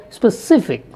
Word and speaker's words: specific: first syllable is stressed if you take a word like specific the second syllable is stressed if you take a